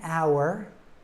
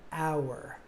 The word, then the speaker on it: hour: letter H so an hour an herbal drink an honest person all three of these our herbal and honest start with the letter H except it's a silent h and so we have